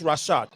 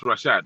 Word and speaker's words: Rashad: Actually, Kojo, the name is Rashad. So just FYI. Okay, it's Rashad.